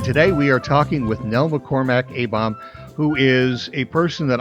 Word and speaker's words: Nell McCormack Abom: And I just wanted to say you get an A-star for pronouncing my complete name correctly, which very rarely happens. Nell McCormack Abom.